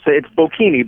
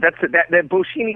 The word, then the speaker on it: Bocchini: He is, and help me out with the pronunciation on this, Bocchini. Is that correct? Oh, it's close. It's Bocchini, but that Bocchini would be acceptable. I'm okay with that.